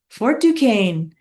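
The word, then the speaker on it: Duquesne: Yeah, French is weird. There's no a in there, but you That's how you say it. All right. So, they um desired I'm just going to put this. If you guys have something else, go with what you're thinking. They desired to capture. This is the next part here. And I'm just going to put for fort f and then dukane which is spelled so different than how it sounds.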